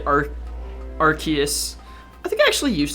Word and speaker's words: Arceus: It makes me cry because people say Arceus. I think I actually used to say Arceus, but eventually I learned that apparently the way to pronounce it is Arceus, so I changed my my grammar to fit.